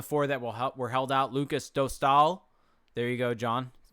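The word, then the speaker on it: Lukas Dostál: Lucas Dostal, there you go, John.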